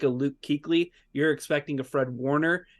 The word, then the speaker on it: Kuechly: You sure did, in Luke Kuechly.